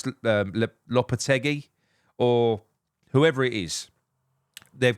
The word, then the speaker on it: Lopetegui: Finally, if it's Julian Lopetegui, I don't think I've said his name wrong once here. Lopetegui, there you go.